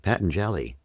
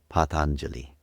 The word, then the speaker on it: Patanjali: Patelli. But the proper pronunciation for those who'd like to learn how to pronounce it properly is Patangeli.